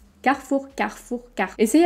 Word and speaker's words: Carrefour: vais faire mes courses à carrefour c'est faux car four carrefour carrefour car essayer à l'envers si c'est trop